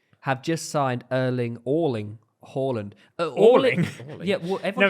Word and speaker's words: Haaland: like that yeah because he came out in an interview and said that there's two ways of saying if you're norwegian it's uh erlang horland but if you're british